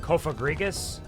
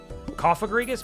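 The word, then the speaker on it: Cofagrigus: I think technically it's supposed to be pronounced kofagrigus, but like they made the rules coffrigus maybe cuz it's kind of a coffin like a sarcophagus coffrigus.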